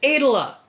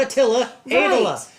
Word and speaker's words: Attila: because he would always say his name is Adela not Attila and one of my absolute favorites has always